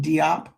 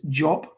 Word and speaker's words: Diop: shant job shank diop we'll call him diop but it's jop sunata as opposed to